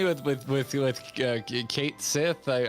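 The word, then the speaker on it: Cait Sith: with kate sith i i've heard kite sith and then there was like if you look up the japanese pronunciation it's completely different uh so it's it's like a cato sith or something i forget um so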